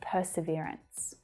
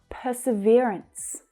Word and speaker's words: perseverance: These are all synonyms of perseverance. Let's focus on the pronunciation for a second. Perseverance. Perseverance. That third syllable is the stressed one.